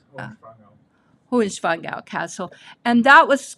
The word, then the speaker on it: Hohenschwangau: Okay, this castle is Hohenschwangau. I'm not saying it right. Ben runs some, Germans mush their words all together, so Hohenschwangau. That's very close. Hohenschwangau.